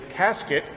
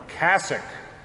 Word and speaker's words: cassock: when you print it mispronounce it as a casket but we all know that really it's supposed to be called a cassock but we hear where